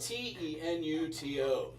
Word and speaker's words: tenuto: And it's spelled T E N U T O.